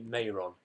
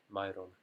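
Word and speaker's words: Mairon: I know people say Mayron, but I use the Elvish pronunciation, so it's Myron.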